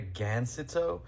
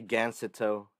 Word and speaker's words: gancito: oh disgrace me sir you don't say gancito it's gancito even even if you can't say in spanish just say like that that's the right way to say it like chocolate covered cakes